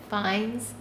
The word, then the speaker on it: Fiennes: an interview once but I think it's like Rafe Rafe finds his last name is felt fi e and n es him in the English